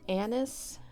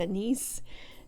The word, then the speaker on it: anise: christmas cookies which are anise cookies and some people pronounce it anise but i just have always said a nice so that's just the